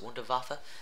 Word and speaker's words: Wunderwaffe: new Easter egg where they talk about the Wunderwaffle, talk about time travel. So everyone knows, like, if you use the Wunderwaffe. How should we pronounce it? Wunderwaffe.